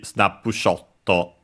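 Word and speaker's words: スナップショット: The full would be snapshotto in Japanese. By the way, accented in Japanese on the sho, the full word.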